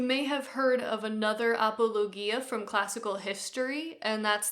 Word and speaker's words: apologia: this is called the apologia and if you think it sounds like the word apology in English you would be right although they do not